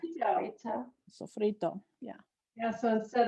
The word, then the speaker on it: sofrito: Sofrito. Sofrito. Sofrito.